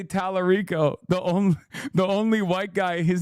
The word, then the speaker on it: Talarico: He said El Sayed and AOC correctly, but he couldn't say Talarico. The only white guy, his name he couldn't pronounce.